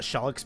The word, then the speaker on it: Cheliax: I think it's Cheliax. But we call it Shellix because it's easier to pronounce.